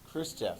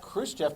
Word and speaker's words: Khrushchev: stalin died in 1953 starts with the k rhymes with roost jeff khrushchev yes so chris jeff is